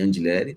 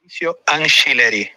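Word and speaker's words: Angileri: Anchileri, como se fosse com CH ou com X, Anchileri. Anchileri, tá? Então nós vamos ter Hugo Souza, Mateuzinho, André Ramalho ou Félix Torres, Gustavo Henrique e Anchileri, tá?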